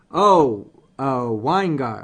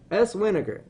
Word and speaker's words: S Weingar: Is it S Weingar? Weingar. Okay. I got you. Ha! I'm going to say it right next time. I promise. All right. Say vinegar. Vinegar. Oh, okay. Vinegar. S Vinegar.